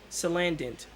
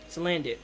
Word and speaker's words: Salandit: who all have freaking salant I might have said that name wrong Salan salandit there we go salandit salamander Bandit I